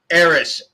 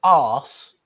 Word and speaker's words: arse: I thought it was Eris if you're British. No, it's arse, but that's different. You spell it with an R.